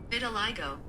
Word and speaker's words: vitiligo: Vitiligo. Vitiligo. Really? Vitiligo. Vitiligo. Vitiligo. It's like vit till I go.